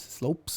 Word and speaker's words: Lopes: lopes who is um it's not lopez slopes that's how they say it and uh patricio